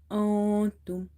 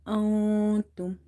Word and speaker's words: أنتم: So noon is sakin here. Noon is silent, and soon after noon sakin, you see there is letter ta. Ta is from the ikhwa letters, so you have to hide this noon sound.